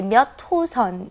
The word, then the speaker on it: 몇 호선: All right, and be careful with the pronunciation when you say 몇 호선. You want to say 몇 호선. It's kind of like it's not written that way, but that's how you want to pronounce it.